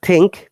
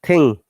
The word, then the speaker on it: thing: Not think, thing. G, remember. Thing.